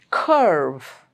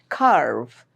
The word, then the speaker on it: curve: Curve. It's not carve, it's curve. Church.